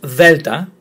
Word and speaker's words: delta: And remember, different to how you pronounced delta, which is there and then, this is th, not the, it's th.